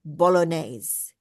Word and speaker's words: bolognese: Also, um, uh, Rahila, um, this word here, it's an Italian word. It's from Italy and it means bolog. It sounds like I'm sure we're saying it wrong in Australia as well, but it in Australia we would say bolognese.